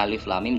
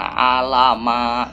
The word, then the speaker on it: alif lam mim: Jadi ini bacanya alif lam mim, jangan alama gitu ya. Alama siapa gitu. Ini alif lam mim.